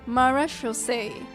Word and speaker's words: Marechaussee: would you join us and play Mars Shosei Hunter Judgment Day? Sorry. So Navia pronounces it accurately, right? So marechaussee.